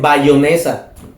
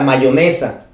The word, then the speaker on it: mayonesa: Bueno, que no saben ni hablar, no saben pronunciar, dicen bayonesa. Dicen bayonesa en lugar de la mayonesa, por ejemplo, no saben escribir, no saben leer, no tienen cultura general.